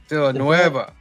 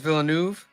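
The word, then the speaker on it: Villeneuve: How do you say it? Nuv. Is it November? Vill Noea. Yeah, he's right. Written by Eric Heiser and Ted Xiang is Villanuv. with French.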